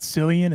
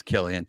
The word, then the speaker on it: Cillian: It's not Cillian, it's Killian? It's Killian. It's the Irish.